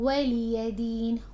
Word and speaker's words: ولي دين: So they make the mistake of adding hamza after meme. You don't do that. You say lakum dinukum waliyadin, waliyadin, waliyadin.